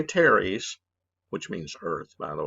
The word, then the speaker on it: teres: The pronator teres, make sure you say teres, which means earth, by the way, because there's also a pronator quadratus down here.